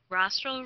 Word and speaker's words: rostral: Rostral rhymes with nostril and rostral is the direction that goes towards the nose.